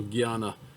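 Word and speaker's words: jnana: of selfless service so guyana it's spelled j n a n a but it's pronounced like a g y a so he's saying okay through guyana yoga that's philosophical speculation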